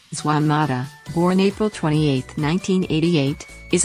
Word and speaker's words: Juan Mata: one Manuel Mota Garcia Spanish pronunciation is Juan Mata born April 28 1988 is a Spanish professional